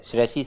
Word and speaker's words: श्रेयसी: श्री तो नहीं है, श्रेय है, श्रेयसी श्रीवास्तव। कितनी सारी श्रेय की साउंड